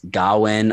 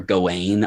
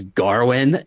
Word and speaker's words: Gawain: heard looking into this, Gawain or Gawain are like the two generally accepted potential pronunciations. Sean Harris as Arthur comes in and says Garwin, and it's just like, it makes no sense at all, but it's so perfect